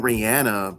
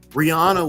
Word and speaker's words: Rihanna: name is Brazilian so of course there's a pronunciation but what I mean is like people were saying Rihanna but we knew they were wrong immediately like Rihanna was saying her name correctly Jay-Z was saying